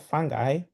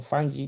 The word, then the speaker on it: fungi: And then we have some which we classify them or under the group of fungi or fungi depending on who is pronouncing it.